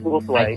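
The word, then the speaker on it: Ulthwé: In Retribution, they pronounce Uthwe, and yeah, it's Uthwe.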